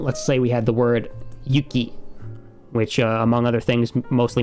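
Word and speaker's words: ゆき: So before our example of snow, yuki, this is never going to be pronounced yucky. Of course. Always yuki.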